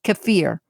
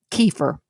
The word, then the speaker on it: kefir: of fermented goats milk known as cfir or As Americans say it kefir long before mechnikov Discovery